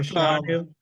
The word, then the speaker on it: Fashanu: Remember a guy DM'd him asking how to pronounce his name, and he said Yes. Fashanu.